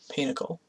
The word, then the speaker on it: pinochle: using this pinochle deck I looked it up how to pronounce it apparently that's the consensus even though it sounds like getting kicked in the nuts so pinochle this is actually my